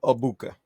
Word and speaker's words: Egbuka: Mbuka? Emeka Egbuka.